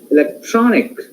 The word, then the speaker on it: electronic: Here, electronic, tron is stressed syllable.